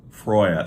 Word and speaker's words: Freyja: So Freya is the actual reconstructed Norse pronunciation for her name. Most people would just read it Freya, which I would say like 90% of people say Freya. I don't. I say Freya because I think that's the more accurate pronunciation. Freya would be like that's what it would sound like if you just read it directly, right, in English.